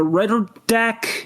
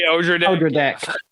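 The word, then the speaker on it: Odradek: I'm going to butcher the Redderdeck. How you say it? Oh, the Odra deck.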